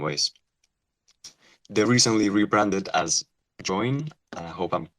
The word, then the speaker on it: Joyn: forward to this conversation and that's how I pronounced join right that's correct cool so I'd love it